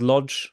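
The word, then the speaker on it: Łódź: I was in a town called Lodge or wood as it pronounced in Polish yeah and uh they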